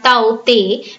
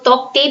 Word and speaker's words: Tauktae: Now here cyclone Taukte, that is pronounced as Taute, right? इसको Taukte भी बोल रहे हैं लोग, K को silent करके Taute भी बोल रहे हैं.